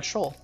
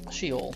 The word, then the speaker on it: Sheol: And it would be great if we could get another double item pedestal room on Shoal. Or Sheol, depending on if you want to pronounce it the Hebrew way.